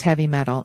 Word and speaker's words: HVMTL: who you collabs what hvmtl pronounce heavy metal is a new crafting